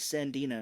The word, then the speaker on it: Sandina: That's how he pronounces it. He says Sandina, because her name in the movie is Sean Sandina.